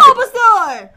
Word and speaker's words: Bulbasaur: Bulbasaur.